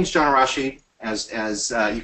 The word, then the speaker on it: Arrasjid: first here so my my name is John Rashi as as you correctly pronounced um was I do have number one